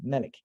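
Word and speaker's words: ملك: do recite this as Malik, such as in the Warsh West African reading, the Warsh reading, which is common in Africa, West Africa, you would hear the word Malik without the long lengthened aleph.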